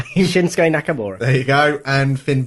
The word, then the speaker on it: Shinsuke Nakamura: McMahon will feed AJ Styles um I can't pronounce the Japanese guy's name shinsuke Nakamura there you go and Finn Balor to Roman